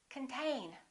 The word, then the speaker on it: contain: This O is reduced. Con. This syllable is stressed. Contain.